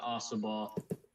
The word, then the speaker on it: Ossabaw: Yeah, it's Wassaw and Ossabaw. Wassaw, Ossabaw. I know because I've been going down there for 20 years.